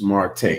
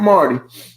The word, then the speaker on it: Marte: Marte. And it's pronounced Marte, not Marty, Dr. Marte.